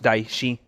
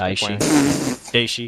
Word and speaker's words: Daishi: It is pronounced Daishi. Just Daishi.